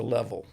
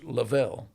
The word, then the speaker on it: Leavell: My family uh this my name is spelled L E A V L and I grew up as a level. Okay. Okay. So, uh and most people that have that name pronounce it level, but there is a faction of people that use lavel.